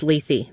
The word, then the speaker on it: Lethe: say it right and it is Lethe by five different independent sources Wow okay so there